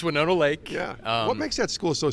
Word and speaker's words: Winona Lake: uh Winona Lake right you said it right people it's called win Nona like there's a kick of like it's not yeah so it's Winona Lake what makes that school